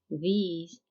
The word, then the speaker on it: these: يعني كنشوفوا كل هاد البروناونز they start with th plus a vowel. يعني فين ما كنشوفوا في أي كلمة th plus a vowel كتنطق ذ، يعني ذا العجمية اللي هي في اللغة العربية كيف ما كنطقوا ذهب أو ذئب.